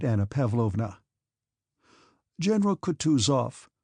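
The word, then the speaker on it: Kutuzov: "General Coutus off," said Bulksky, speaking French, and stressing the last syllable of the general's name like a Frenchman, "has been pleased to take me as an aid to camp."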